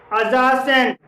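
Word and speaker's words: adjacent: जी हाँ दोस्तों, यदि किसी शब्द में डी के बाद जब जे आता है तो डी साइलेंट रहता है। जैसे कि एडजेक्टिव, अजज, अजासेंट, अजवाइन, आजस्ट, आजवर, इन सभी शब्दों में डी के बाद जे है और डी यहाँ पर इन शब्दों में साइलेंट है।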